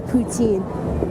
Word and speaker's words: poutine: not from montreal but i love putin or poutine poutine yes the proper the property pronunciation just like how they